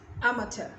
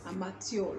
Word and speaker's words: amateur: light bulbs next amateur amateur now i used to pronounce this word as amateur a matio like you are no